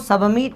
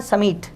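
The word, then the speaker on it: submit: साथियों जो सबमिट शब्द होता है इसमें बी साइलेंट होता है, इसलिए आपको सबमिट नहीं पढ़ना है, इसे पढ़ना है समीट, समीट, सबमिट the form, सबमिट the form.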